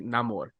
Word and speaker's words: Namor: Namor. They pronounce it Namor because I know we had